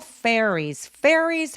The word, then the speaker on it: fairies: saw fairies 할 때 F로 시작하는 발음들은요. F 앞에서 바람 소리가 확 느껴질 수 있도록 해주세요. 그러니까 fairy 아니고 fairies, fairy 하면서 바람이 먼저 느껴지고 나서 F 발음을 합니다. saw fairies R로 시작하는 음절이라서 fairies 이기 때문에 입술을 내밀어서 fairy, 리가 아니라 re라고 입술을 내밀고 시작해주세요.